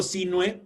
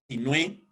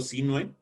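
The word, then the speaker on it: Sinhue: El gobernador Diego Sinue, y digo Sinue porque no lleva acento en la E. Si llevara acento en la E sería Sinue, pero como no lleva acento en la E, es Diego Sinue.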